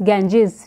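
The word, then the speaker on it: Ganges: clear करना चाहती हूं जैसे हम गंगा बोलते हैं ना हमारी होली रिवर जो है तो हम इसको गंगा प्रोनाउंस करते हैं but internationally it is known as इट is pronounced as गेंजेस और ये जो हमारे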